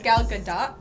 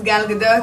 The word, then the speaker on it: Gal Gadot: No, it's not Gadot. It's not waiting for Gadot. We're not waiting for Gal Gadot. It's Gal Gadot, I believe. Gal Gadot? Gal Gadot. Hello, my name is Gal Gadot.